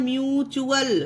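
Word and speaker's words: mutual: जैसे कि एग्जांपल देखिए, एम यू टी यू ए एल, इसे क्या पढ़ा जाता है, म्यूचुअल। ये देखिए टी के बाद क्या आया है, यू ए एल आया है तो इसे च्यूअल, ठीक है, इसे ट्यूअल नहीं पढ़ा गया है। देखिए टी को टा नहीं, टी को चा पढ़ा गया है, च्यूअल, ठीक है।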